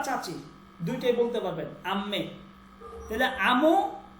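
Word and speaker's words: دایی: আর এটা হচ্ছে দই, দই, দই, দই মানে হচ্ছে মামা, দই, দেখেন দই, দই উচ্চারণ হচ্ছে দই, দই মানে হচ্ছে মামা, মামা, দই মামা।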